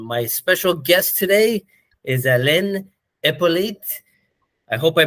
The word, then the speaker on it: Alain Hyppolite: And my special guest today is Alain Hyppolite. I hope I pronounced that right.